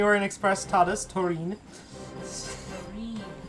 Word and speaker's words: Turin: Turin instead of Turin. Yes, that's right. The emphasis on the wrong syllable.